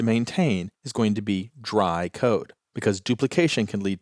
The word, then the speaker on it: DRY: is dry code now I'm always going to pronounce that as dry but it's actually three letters d r y which stands for don't